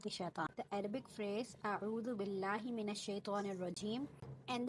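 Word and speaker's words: أعوذ: Here, this is the lesson number 1, and the first word of this isti'aza is a'udhu. In this word, you have to make sure you pronounce the letter Ain very correctly.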